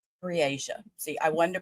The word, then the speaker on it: Breasia: Briasia. See, I wanted to pronounce it right and I couldn't remember which way they're pronouncing it. Briasia.